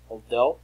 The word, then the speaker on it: although: Although rhymes with go.